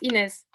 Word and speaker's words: Ines: that i also see anies is here um am i pronouncing your name correctly yes oh that means i didn't yeah no it's ines wonderful and that's where